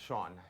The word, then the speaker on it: Sian: It's actually, I'm sure it's pronounced Sean, just to out you on national TV.